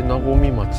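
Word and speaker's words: 和水町: 8 つの神様がおるらしいで、あれで和み町って読むんや。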